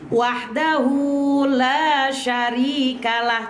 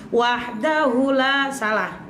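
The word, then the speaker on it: وحده لا شريك له: Wahdahu la syarikalah. Coba. Wahdahu la syarikalah. Jadi rata-rata ibu-ibu tuh ketika saya ajarin sering bacanya hunya tuh pendek. Wahdahu la, salah. Wahdahu la syarikalah gitu ya.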